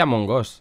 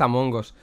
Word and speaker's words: Among Us: ríen planel a mongos es que se dice a mongos en realidad el videojuego pronunciado en inglés es am hongos igual que el otro